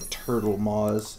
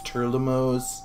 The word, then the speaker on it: Turlimos: I always think he's like Turtlemos. It's Turlimos, or however you pronounce it, but I always think there's going to be a T in there, but there isn't.